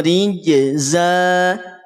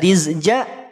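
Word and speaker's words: رجزا: Qila lahum faarsalna alaihim rijza Jim Zai bergandengan jangan sampai tertukar tidak rizja atau rijja atau rizza Jim dan Za beda ya Jim dan zaai beda secara pelafalan juga beda Jim AJ AJ AJ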